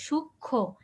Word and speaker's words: সূক্ষ্ম: হ্যাঁ, তাহলে এরকম যদি কোনো যুক্ত ব্যঞ্জনের সাথে মফলা যুক্ত হয়, তাহলে আমরা ওই মফলাটাকে উচ্চারণ করব না। ঠিক আছে, সূক্ষ্ম, এখানে দেখো এখানে কি